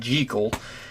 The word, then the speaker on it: Jekyll: Like with the literature review, I said Jekyll, because that is technically the way it was supposed to be pronounced, as I mentioned in that video. It was just Hollywood and slight tweaking the pronunciation over the years that changed it from Jekyll to Jekyll.